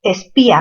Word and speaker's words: espía: A ver, espía, mayor fuerza en la sílaba pi.